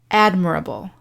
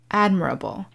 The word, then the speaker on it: admirable: the adjective form however the syllable stress is on the first syllable admirable admirable and we get the